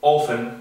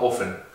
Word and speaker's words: offen: Tenemos el caso de offen, que offen con dos F significa abierto, entonces se pronuncia corto, offen.